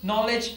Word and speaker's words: knowledge: In the word know, knowledge, night, K is silent.